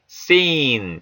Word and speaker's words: scene: scene, 장면 상황이죠. 역시 S 다음에 C가 묵음됩니다. scene, scepter.